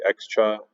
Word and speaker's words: Xxcha: the faction i know some people like to say x-cha i say cha but teach their own